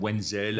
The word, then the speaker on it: Wenzel: Aujourd'hui, vidéo avec Nikolai Wenzel. Est-ce que je le prononce bien? Je le prononce généralement en américaine, Wenzel, avec Wenzel. le W un peu plus suave.